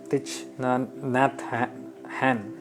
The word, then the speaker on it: Thich Nhat Hanh: Well, you can do your research, you can Google him out, you can check out about Thich Nhat Hanh. That's how he's pronounced.